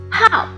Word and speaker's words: 号: 号，第四声调，部首是三点水。